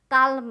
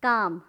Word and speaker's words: calm: उसी तरह से काम, काम मतलब क्या है, शांत रहना, CALM, काम, काल्म नहीं, काम।